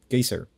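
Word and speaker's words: Geysir: lastly they're also apparently the word geyser comes from the massive geyser in iceland called gaser so the word itself we just butchered the pronunciation and decided to make it official yeah pretty much oh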